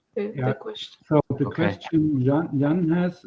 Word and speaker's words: Jan: The name is pronounced Jan.